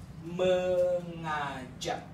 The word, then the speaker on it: mengajak: So there are three syllables here, mengajak. So ng followed by letter a with nga, yeah.